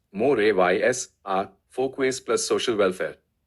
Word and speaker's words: mores: Depth: mors, pronounced more-ays, are folkways plus social welfare.